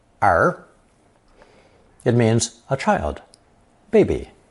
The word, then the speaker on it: 儿: From these various drawings, we arrive at another very common character, which adds 2 legs and is pronounced second tone, er, er.